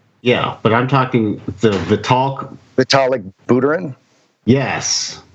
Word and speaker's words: Vitalik Buterin: You can pronounce his name, Steve Larson. Yeah, but I'm talking the Vitalik Buterin. Yes, It's actually Vitalik Buterin, who was tweeting last week that all crypto